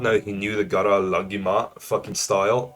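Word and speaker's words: Guru Laghima: I did not know he knew the Gara Lagima fucking style. It's, if you don't know what, I think you pronounce it Guru Lagima.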